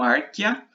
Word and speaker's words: Archaea: O domínio Archaea, lembre-se, pronuncie o E só, domínio Archaea e o domínio Bactéria.